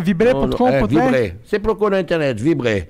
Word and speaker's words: Vibré: assim, ó, pra quem tá só ouvindo, se escreve assim, ó. Vibre com acento agudo no E.